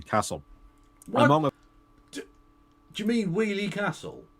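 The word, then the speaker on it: Weoley Castle: Where did you get an S in the name Wheelie Castle? To be fair, it is spelt a bit weird. I can understand an outsider calling it Woley Castle, because that's how it's spelt.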